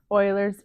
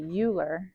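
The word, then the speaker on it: Euler: which is the same as log base e Oilers e used for compounding continuously continuous growth or continuous decay Oilers yeah it's yeah it's e u h l e r so I like to pronounce it uler CU that's how it looks to me but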